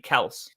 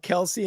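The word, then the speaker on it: Kelce: It's actually Kels. It is Kels, isn't it? Yeah. Wasn't there like a whole thing at the beginning of the year about how they get called Kelsey and it's actually Kels, but they just didn't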